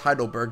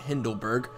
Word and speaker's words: Heidelberg: Yes, it's actually pronounced Heidelberg, not Hindelberg.